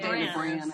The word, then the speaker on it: Boreanaz: David Boreanaz.